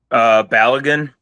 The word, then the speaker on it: Balogun: Balogun.